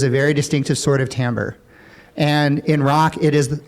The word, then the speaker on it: timbre: we would use for this is timbre t-i-m-b-r-e doesn't isn't spelled like it sounds uh but timbre basically